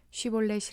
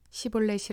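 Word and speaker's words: 쉬볼렛: 에브라임 사람이 아니라고 하면 그에게 쉬 볼넷이 라는 말을 발음 하게 하였다 그러나 그가 그 말을 제대로 발음하지 못하고 시 볼넷이 라고 발음하면 길르앗 사람들이 그를 붙들어 유당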